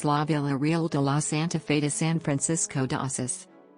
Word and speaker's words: Santa Fe: The standard Spanish variety pronounces it Santa Fe as contextualized within the